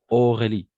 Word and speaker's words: Aurélie: La combinaison de voyelles O, A et U, on va prononcer O. O. Et voilà. Aurélie.